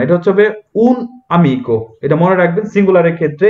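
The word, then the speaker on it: un amico: তো এখানে মনে রাখবেন যে এখানে একটা গ্যাপ থাকবে, যেমন হচ্ছে উন তাবলো, যদি ভোকালে না থাকে এক্ষেত্রে কিন্তু আমরা এইভাবে উচ্চারণ, কিন্তু অনেকে উচ্চারণ করে হচ্ছে উনামিকো, উনামিকো না, এটা হচ্ছে উন আমিকো।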